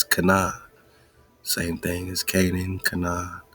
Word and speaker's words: Cynan: Now this Canaan is spelled Cynan, but it's Canaan.